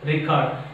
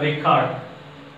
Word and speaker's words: record: Noun, record. Please get me, what is a record? It's not record, it's a record.